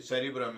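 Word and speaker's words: cerebrum: तो वहाँ पे वो वर्ड बकायदा ये प्रोनाउंस हुआ है कि ये सेरिब्रम है।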